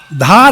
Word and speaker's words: धार: डहार गांव आप लोगों ने नाम सुना होगा, एक्चुअली वो डहार नहीं है। स्पेलिंग अगर आप देखोगे ना, DAHAR, जबकि ये एक्चुअली है DHAR। धार है, ये छोटा धार है।